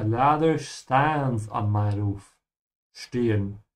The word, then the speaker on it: stehen: Stehen. And remember to pronounce through the sh because it's an st.